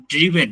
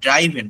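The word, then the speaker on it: driven: উচ্চারণটা হচ্ছে রিটেন, ড্রিভেন, নট ড্রাইভেন, ড্রিভেন।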